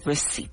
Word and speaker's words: receipt: Receipt. Don't forget to uh spell this word with a P right before the T, but do not pronounce it. So, receipt.